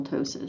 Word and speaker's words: ptosis: to see this renal ptosis so the p is silent it causes the kidney